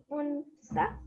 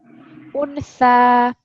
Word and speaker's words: أنثى: So this is the three dots, so we know it's for a tha. Untha. Untha. Untha. Think about the word thin.